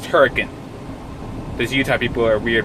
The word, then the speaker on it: Hurricane: you going to Huracan it looks like hurricane that's pronounced turrican there's Utah people are